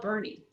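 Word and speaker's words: Boerne: it that's crazy wow isn't bernie spelled differently like german so the first it's b-o-e-r-n-e apparently in german the first vowel is silent got it i i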